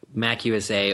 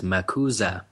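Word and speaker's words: MACUSA: choose to have the Mac USA, or actually she corrects everybody she gives everybody a phonetic pronunciation here and says it's commonly pronounced as Makuza.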